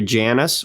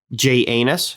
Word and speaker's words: Janus: He named the month after Janus or Janus, however you prefer to pronounce it. I like Janus. That's how I also like to do it. It's literally J and then anus.